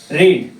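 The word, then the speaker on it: read: में क्या होता है रीड में तीनों फम का स्पेलिंग सेम रहता है लेकिन बोलने के समय फर्स्ट फम को रीड बोलते हैं और सेकंड और थर्ड को रेड बोलते हैं लेकिन स्पेलिंग वही रहेगा तो आई रेड अ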